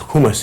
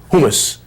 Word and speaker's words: hummus: you pronounce that word hummus it's not actually pronounced hummus it's hummus there's a subtle difference there I once went